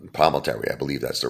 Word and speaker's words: Palminteri: Is it Palminteri, right? Mm-hmm. Chaz, right? Palminteri, I believe that's the right way to say it.